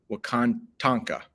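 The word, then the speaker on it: Wakan Tanka: There was a strong need for guidance from, another footnote here, and this is literally pronounced the way it looks. Wakatanka. Almost sounds like Wakanda, but it's not. Wakantanka, the Great Spirit.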